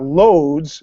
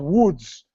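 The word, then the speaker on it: Łódź: with the slash do it is pronounced with a w so it's not loads which would amuse me to no end a city called loathe haha yeah but it's called woods foods that sama sounds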